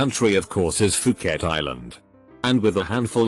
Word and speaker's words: Phuket: it I learned later that the correct pronunciation is Phuket third grade math class